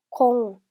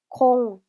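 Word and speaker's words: คง: 다음 단어는 콩, 콩, 콩이라고 발음하고요.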